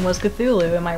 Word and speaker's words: Cthulhu: something which Zulu yeah it's like the c th it's supposed to be like one sound and not like to